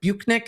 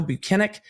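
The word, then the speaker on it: Brennick: which actually surprised me he had said bunck and he's like no binic and then kind of smiled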